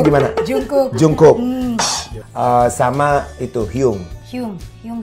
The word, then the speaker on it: Jungkook: Bacanya gimana? Jungkook.